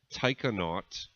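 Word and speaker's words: taikonaut: a human into space Tai cannot for those of you not familiar with that term astronaut in Chinese is pronounced I cannot or that's the equivalent word that they use Tai cannot Yang Liwei flew alone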